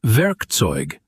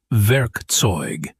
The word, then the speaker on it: Werkzeug: The word Werkzeug, tool, not Werkzeug. It's Werkzeug.